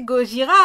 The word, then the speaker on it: Gojira: Et je vais pas prononcer Gojira à la japonaise. C'est Gojira, on prononce comme une bonne française, Séraph.